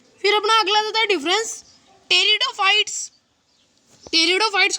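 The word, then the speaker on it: Pteridophyta: है फिर 5.1 के कि कि ब्रायोफाइटा और टेरिडोफाइटा देखिए आपको जिक्र नहीं किया ब्लैक में 15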